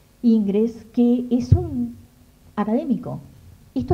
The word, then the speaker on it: Ingres: con este señor que se llama inglés porque me gusta decirle así como se escribe pero es aunque no en francés jean dominique ingres que es un académico